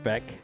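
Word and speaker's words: Bech: herb street thinks uh did you pronounce his last name beck b-e-c-h receiver at lsu jack beck um option of uh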